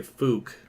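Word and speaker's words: Fouke: west of of uh I'm gonna say Fook f-o-u-k-e that may not be right but that's how I'm going to pronounce it um anyway so if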